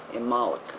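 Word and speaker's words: Imbolc: LC which is pronounced imol imik the B is not pronounced um this is the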